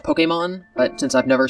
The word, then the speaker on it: Pokémon: in Pokémon lowercase but he doesn't put the accent over it technically it's pronounced Pokemon but since I've never